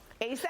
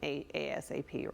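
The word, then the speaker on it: A$AP: And later on this morning, Rihanna and Wow, you guys spelled it out phonetically for me. ASAP. Who is it? Yay. ASAP. I've been calling him a ASAP.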